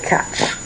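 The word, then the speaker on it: quatre: Now, it was interesting trying to get a a pronunciation to write for you guys, but I came up with catch. Catch like you got catch and then catch. That's the best thing that I could do.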